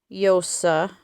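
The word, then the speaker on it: Llosa: uh director named Claudia yosa I think that's how you pronounce it's double l so I'm not sure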